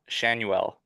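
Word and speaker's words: Schanuel: I'm gonna go Nolan Shanuel, if that's Okay.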